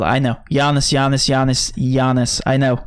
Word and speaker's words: Giannis: the low value options yeah and this sorry Yanis is the way to pronounce it it's just the way it's spelled I know Yanis yamas Yanis Yanis I know I'm sorry alright